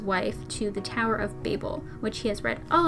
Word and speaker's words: Babel: in the Tower of Babel series by Josiah Bancroft. I am pronouncing it Babel, not Babel, because that's how the narrator pronounces it in the audiobook.